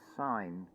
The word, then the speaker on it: sign: How many people read the word sign as it is written, S-I-G-N, and don't even consider, well, why don't we say that letter G, like a hard G?